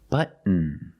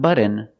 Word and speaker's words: button: like uh cotton candy button button not button it's but stop T and fall to the end but m push a